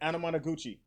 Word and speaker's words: Anamanaguchi: Anamanaguchi.